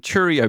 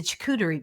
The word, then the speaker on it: charcuterie: Guinness World Record breaking Cheerio board. Am I pronouncing it wrong? A Cheerio board is not it. No, it's a charcuterie board. Charcuterie board. Charcuterie. So the close. Charcuterie. Yes, the charcuterie board.